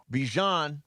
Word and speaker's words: Bijan: Bijan Robinson, yes.